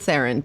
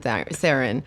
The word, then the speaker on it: Theron: No, he was like, pronounce it Theron. People will understand Theron.